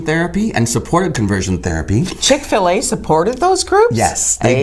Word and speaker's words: Chick-fil-A: I always thought it was Chick-fil-A. She said, it's Chick-fil-A, like filet of chicken.